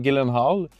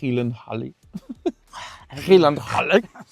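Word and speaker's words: Gyllenhaal: Puis c'est la sœur de Jake Hillenh le monde il disent Gillen Hall mais j'ai vu en entrevue que ça se prononce Helen Han fait que ça met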